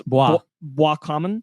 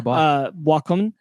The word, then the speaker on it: Boiscommun: I'm pretty sure because it's French, it's Boiscommun. There you go, Boiscommun.